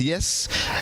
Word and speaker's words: YEES: YEES, pronounced yes, and it stands for Youth Empowerment Evangelistic Series.